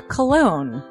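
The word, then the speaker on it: Colon: It is a self-published book by Christopher Cologne.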